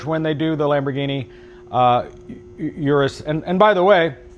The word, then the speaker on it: Urus: they do the Lamborghini Urus. And by the way, the correct pronunciation of the car is Urus. But as lazy Americans, we'd say it Urus.